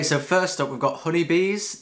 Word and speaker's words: Hunybees: Okay, so first up we've got Hunybees. That's spelled H-U-N-Y-Bees, like the animal bees.